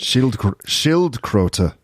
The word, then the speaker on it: Schildkröte: Okay, so Schildkröte. Yeah, good. Schildkröte. Yeah, the O sound is an umlaut. So we say Ö. Schildkröte.